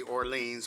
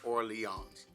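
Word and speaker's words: Orléans: or Leon I think keep want to say Orleans but I believe it they pronounce it or Leons and so or Leons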